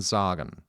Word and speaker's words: sagen: lines is still masculine tagen and Sagen being pronounced tagen and zagen the unaccented syllable is